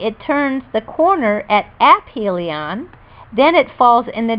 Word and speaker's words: aphelion: from the Sun called aphelion pronounced aphelion it travels at its slowest